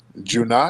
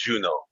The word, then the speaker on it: Juno: I pronouncing your name junat oh what's up DQ how's it going brother I'm good brother am I pronouncing your name right no it's Juno Juno yeah yeah so um